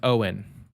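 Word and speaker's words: Eoghan: and that was um i think his name is owen it's g e og han but i think it's pronounced owen um cj apparent heir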